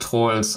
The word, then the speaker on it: Troels: Ja, also es wird Troels ausgesprochen. Also es wird Troels geschrieben. Also man könnte denken, als Deutscher es heißt Troels, aber das E ist halt eigentlich quasi stumm, also Troels.